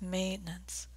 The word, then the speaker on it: maintenance: the word here is maintenance maintenance has a nice long a is in gray sound maintenance valve 4 is